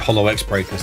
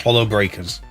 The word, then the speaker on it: Holo X Breakers: I nearly called it Holo X Breakers. It's not. It's just Hollow Breakers is what it's called. Um the X is silent apparently.